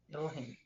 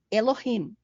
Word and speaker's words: Elohim: aqui em cima está Como se pronuncia tá Elohim Elohim tá que é a